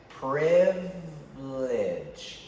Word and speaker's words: privilege: is the word privilege listen how i say it privilege you don't hear the you don't hear the